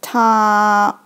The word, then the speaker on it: 她: Still pronounce as 她, but because it had woman's part, it means she or her.